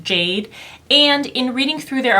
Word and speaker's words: GA-DE: the brand is called Jade Cosmetics it is spelled GA - de but I believe it's pronounced Jade and in reading through